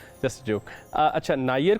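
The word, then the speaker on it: Niger: नायर क्योंकि फ्रांस की कॉलोनी रहा हुआ है, इसलिए इसे फ्रांसीसी अंदाज में ही पुकारा जाता है, जो कि नायर।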